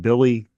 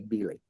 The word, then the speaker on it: Biehle: I think they pronounce it Beely. Right. Biehle, and they say Beely.